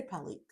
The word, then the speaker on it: Pelykh: Yeah, I would say Pellyk.